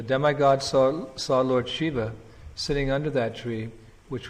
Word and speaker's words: Shiva: this auspicious person Shiva actually the very word Shiva as it's pronounced Shiva uh it means auspicious Lord Shiva